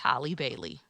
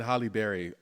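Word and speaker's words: Halle Bailey: Mermaid right starring highly Holly B Berry no Hy Bailey yes Holly Bailey Hol biley there you go I've been saying Holly Berry my whole life Mary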